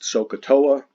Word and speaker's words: SOHCAHTOA: just write it this way and it is pronounced sohcahtoa and those are just the rules for which